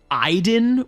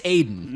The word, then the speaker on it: Aiden: spirit or entity called iden with you but it's spelled aiden and like the every time they say it as i didn't i'm like you you're saying that to be cute it's aiden yeah stop and it's so